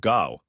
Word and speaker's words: Gough: In the '70s, we had a prime minister called Gough, pronounced Goff Whitlam.